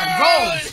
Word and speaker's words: goal: De ir en inglés, ¿cómo es? Go. Y lo que tú estás diciendo que es... Goal. Goal. Goal. Goal. Goal. L al final.